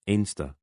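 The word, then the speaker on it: Anstruther: Mons and Pittenwim, then Anstra, pronounced Inster by locals.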